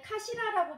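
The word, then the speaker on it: かしら: 자, 이 카시라라고 발음을 하는데 이 카시라는 머리란 뜻도 있고요.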